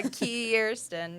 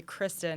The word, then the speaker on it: KIIRSTIN: Yeah, a KIIRSTIN, yes. Yeah, it's funny to me when people say Kristen because I'm like, there's two I's.